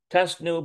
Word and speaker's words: טסנו: And here it is, tasenu, or tasnu. Tasnu bayahad. תשנו ביחד. Oh, no. Tasnu. טסנו ביחד. טסנו ביחד. Yeah, tasnu bayahad. Okay, all right. That really throws you off.